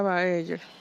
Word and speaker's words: Baeyer: Se escribe Baeyer, pero se pronuncia Baeyer.